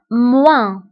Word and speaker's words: moins: في عملية الطرح كنستعملو ناقص أو moins moins moins. فانتبهوا بالنسبة للموا كنكتبوها بأس في آخر الكلمة ولكن لا تنطق moins.